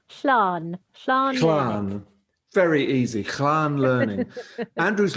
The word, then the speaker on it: Llan: called, Kate, and I'll call on your Welsh pronunciation. It's called... It's a Welsh word. It's called Llan. Llan.